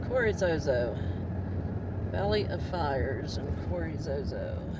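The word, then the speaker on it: Carrizozo: Is it Carrizo or Corizozo? Oh, it is Zozo. Corizozo. Oh, I've been saying it wrong all along. Corizozo.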